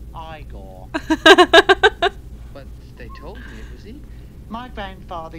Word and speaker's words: Igor: why isn't it from Constantine you must be Igor now it's pronounced Igor but told me my grandfather used to work